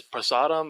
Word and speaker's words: prasadam: been thinking about is I'm probably mispronouncing it but I believe it's prasadam or Sodom yeah no you pronounce it correct yes awesome um I